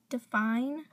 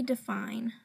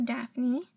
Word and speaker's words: Daphine: to say it I'm pretty sure its defined though but yeah so her website is www define polish com or Daphne her name is not Daphne so I'm pretty sure